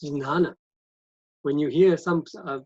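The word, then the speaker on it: jñāna: i would write g-y-a-n-a gyana that's how it is it sounds to me and that's how we normally just could not pronounce this we can pronounce it gyana or nana both are correct right but here there's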